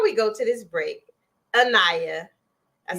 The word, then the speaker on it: Anayah: So before we go to this break, Anayah, I said it right?